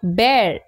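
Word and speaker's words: bear: বি ই এ আর এর উচ্চারণ হয় বের। এবং ব্যার শব্দের দুটি মানে হয়।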